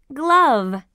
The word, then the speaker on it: glove: glove foreign that's right glove can you hear the e sound in glove no that's right the E is silent glove page 66 b